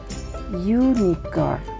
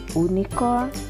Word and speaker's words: unicorn: rulers pensil seekor Unicorn walaupun diawali dengan huruf vokal kanal vokal itu ada hahihu e-tab yg dibacanya yunikor bukan unicore ingat ya yunikor jadi dan itu n